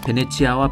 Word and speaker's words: 베네치아: 방식에 차이가 있을 뿐 원래 이름은 이탈리아식 발음인 베네치아가 막 이 베네치아는 영어로 부르던 표현이 바로 페니스 이다 어쨌든 돈을 갚지